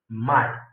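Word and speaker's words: μαι: It is pronounced at my. This is moo and this is ala. This this one iota. So it is pronounced as my.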